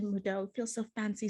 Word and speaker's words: Moodeaux: of model if you didn't know that's the pronunciation mudo feel so fancy saying it but model is